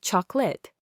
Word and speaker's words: chocolate: The I is often a schwa, making it sound more like family, chocolate. The middle O is often a schwa, making it sound more like chocolate.